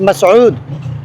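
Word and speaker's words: Masud: In Bangla my language is my name is মাসুদ, when it's come to Arabic it's মাসউদ।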